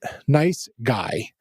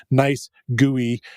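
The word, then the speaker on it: NiceGUI: and I pronounced it nice gooey, kind of emphasizing the GUI of the graphical user interface of it. But supposedly they would like it pronounced as guy.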